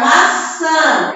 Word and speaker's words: maçã: Olha o som nasal. Sã. Cedilha, A e o tio.